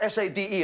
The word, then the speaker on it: Sade: Sadie, spelled S-A-D-E, and pronounced Sade.